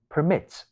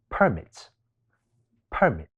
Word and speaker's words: permit: 喺第二音節，讀成 permit，變成動詞。